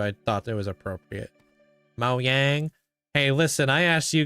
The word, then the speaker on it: Mojang: say I always said Mojang and I was like then I was like, is it pronounced Moyang or Mojang? I was like you people were like Mo Yang. That's how they would pronounce it.